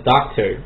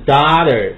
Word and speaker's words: daughter: 第二个呢，女儿这个单词啊，你读成了 doctor 就是错误的，因为你读的是医生。我们读的是 daughter, 音是 daughter, 美音 daughter, 后面是 daughter。